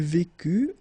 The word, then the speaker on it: vécut: Il vécut, elle vécut, final T not pronounced.